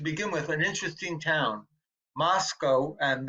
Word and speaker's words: Moscow: with an interesting town, Moscow. And the locals say you pronounce it Moscow rather than Moscow. They want the name they say to rhyme with Costco.